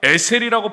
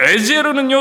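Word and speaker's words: עזר: 이때 우리가 에셀이라고 발음하며 읽은 단어가 바로 돕는 배필에서 나오는 에르와 같은 단어입니다. 에르. 에르. 이처럼요. 에제르는요.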